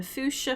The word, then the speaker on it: fuchsia: A fuchsia flatworm. I assume that's pronounced fuchsia, right? Or because it's not fuchsia. Because it's not a German word.